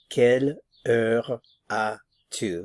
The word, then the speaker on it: quelle heure as-tu: Notice that we're not pronouncing the S here, so quelle heure as-tu?